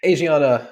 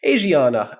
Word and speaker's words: Asiana: me and also not unexpected I don't think Asana am I pronouncing that right have I always been pronouncing it wrong is it Asiana I one would assume okay Asiana uh has been struggling for for years now